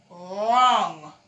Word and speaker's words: wrong: And this one is wrong. Yes, when you're not right, you're wrong. And the R starts its sound and the W is silent.